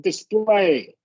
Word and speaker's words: display: Uh this this word right here, the the emphasis comes on the display. Okay. Display cases. Correct. Yeah, I wrote that down. But the emphasis will be on that second syllable.